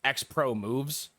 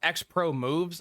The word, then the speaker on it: Xpromvz: uh I've been told that this gentleman is pronounced xpro moves yeah I've been I've been told that uh his name is pronounced xpro moves uh I will not be referring to him